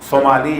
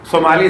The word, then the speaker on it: صومالی: میں اکثر امام کی ایک دعا کا تذکرہ کرتا ہوں, دعائے ابو حمزہ, یہ صومالی یا سمالی, صومالی زیادہ بہتر ہے تلفظ.